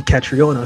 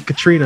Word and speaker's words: Catriona: just said your name catriona so i've been saying it right this time because i know a lot of people call you katrina and i was like